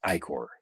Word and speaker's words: ichor: Well, it's like Igor, you know?